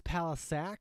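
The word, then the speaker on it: Palascak: know if people know and it's palis saac that's how you say it um some people don't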